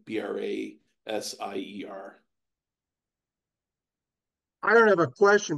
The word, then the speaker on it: Brasher: So it appears as though there's actually evidence from 1791 that Brasher pronounced his own name Brasier.